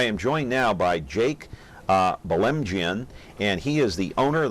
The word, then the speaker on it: Belemgian: viewer anyway I am joined now by Jake bell mgn and he is the owner the firing line